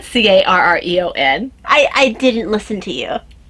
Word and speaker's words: Carreon: It's spelled differently. I said Carreon.